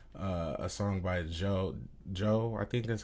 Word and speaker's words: Djo: And so I went through, and one of the other songs I found was like a song by Joe, I think that's how you pronounce it, DJO.